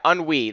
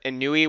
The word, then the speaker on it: Ennui: Uh, it's this guy's name is pronounced Enwi, maybe I think Ennui. Yeah, Ennui. That's what it was. Instead of Inui, which how I've been pronouncing in the last one.